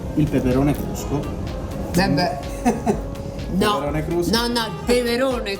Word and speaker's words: crusco: Lucani, e il peperone crusco. Peperone crusco. No, il peperone crusco, perché è proprio il caposaldo Sì. della Basilicata. Voglio capire. Crusco è un nome onomatopeico, sarebbe krusk in dialetto.